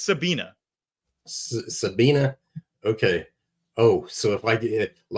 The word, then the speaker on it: Sabine: In German, it's pronounced Sabina.